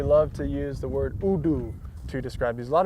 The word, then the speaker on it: hoodoo: We now use the word hoodoo to describe those columns of rock, but just remember it is pronounced Udu.